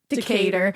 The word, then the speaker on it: Decatur: Decatur.